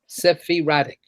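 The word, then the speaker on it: sephiratic: entire sophratic week right sephie radic sephirah sifting erratic right so rhymes with erratic so um for the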